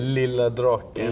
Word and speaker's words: Lilla Draken: Yeah, it was kind of a nickname in Swedish, Lilla Draken, Little Dragon. Oh, how you say it? Lilla Draken.